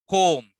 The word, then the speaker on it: comb: And the other one, comb. B is silent.